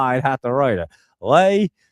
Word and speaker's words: Letitia: Lay. It's not Lee. It's Lay. Lay Tisha.